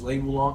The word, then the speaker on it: Lei Wulong: And then I always said the other guy's name wrong. The one that's coming back is Lei Wulong. I always thought it was Lee. Oh yeah. Yeah. Growing up all my life is Lee, and we're just like, are you sure?